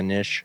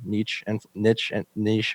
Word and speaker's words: niche: kind of be a niche influencer, niche, however you want to pronounce it, influencer. - Either way works, yeah.